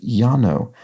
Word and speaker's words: Llano: Llano is actually pronounced Yano it's not a hard and fast rule but in words originated in Spanish Double L is often pronounced like a y and of course this